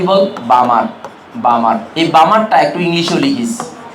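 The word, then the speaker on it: Balmer: বল বামার বামার এই বামারটা একটু ইংলিশেও লিখিস বি এল এম এ আর এটা উচ্চারণ উচ্চারণটা অন্য কিছু করিস না বামার হবে কারণ কেন বল কেন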